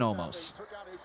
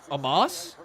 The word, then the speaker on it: Omos: Thumbs up, thumbs down for the pairing of AJ Styles and Omos. Yeah, I do too, Dante. How you doing though, buddy? Good to see you. Amos?